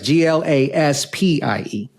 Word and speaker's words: Glaspie: And it's Glaspie with IE, not Y. Yes. People often don't know how to pronounce it or spell it once I say it. So that's right. It's Glaspie.